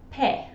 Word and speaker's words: pie: You can see this in this phrase here, where the word I'll has become el, and then the word pie has become pe.